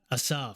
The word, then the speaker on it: Asaf: good and I'll introduce myself my name is assap how many has anybody ever been to my show before Assaf so I've been pronouncing his name name different ways and many